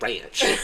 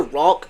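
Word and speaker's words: Rauch: rock Ro I'm pretty sure it's rock It's pronounced rock is it Ro Ranch I'm pretty sure it's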